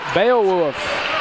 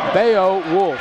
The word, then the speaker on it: Beowulf: B-E-O-W-U-L-F. Wolf. Yes. Wolf like W-U-F, and you pronounce it like wolf? Yes. Wolf? Like the animal. Like the dogs do. Woof, woof. No, like the animal, like they hunt in a pack, the wolves. Bay woof. Bayo wolf. Bayo woof. Bayo wolf.